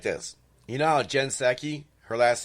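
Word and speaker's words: Psaki: this you know jen seki her last name p s aki the p is silent when we talk about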